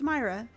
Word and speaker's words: Myra: are you doing how do I say your name am I not saying it right I don't know I feel like I say your name differently every time I see it in chat Myra right it's Myra why does my brain